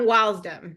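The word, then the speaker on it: W.I.L.S.D.M.: DM stand for um wdom that's how you pronounce this wdom okay all right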